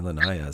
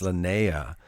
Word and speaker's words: Lanayah: I've been saying Lanayah, so it's Lanayah.